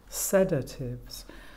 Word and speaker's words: sedatives: on the fourth syllable sedatives so I don't know if you heard that but the stress actually falls on the first syllable antiemetic Okay so we've